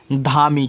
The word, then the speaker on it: धामी: Okay चलिए, लिखा है कि DHAMI। यहाँ पे लिखा है धामी। क्या लिखा है? धामी लिखा हुआ है। तो याद रखना DHA से आपका धा बनता, ए से आप मानता धा, यम से आपका माँ।